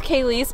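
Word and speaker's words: Kalyce: being like are you still best friends with kayis but every if you don't know her name is spelled k a l y c e and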